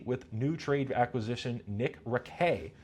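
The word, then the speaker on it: Raquet: new trade acquisition Nick Ray, spelled racket, uh, but pronounced Ray, who was acquired in a trade with the St.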